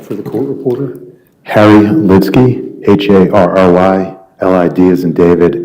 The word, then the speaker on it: Lidsky: Harry Lidsky.